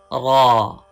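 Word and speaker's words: ر: Please read with full sound. Thick sound. Raw.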